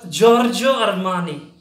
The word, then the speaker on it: Giorgio Armani: Italian it's Italian fashion brand and it is pronounces George George your money see can you write the ransom the George